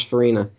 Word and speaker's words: Farina: The only other one is Jack Crawford, played by Dennis Farina. I love Dennis Farina. That's his name, right? I didn't pronounce it wrong, did I? Yeah, no, Dennis Farina, yeah.